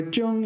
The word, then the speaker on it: 正: This is one of these cases where 正 is pronounced first tone. 正月的正。So here they add this 古时.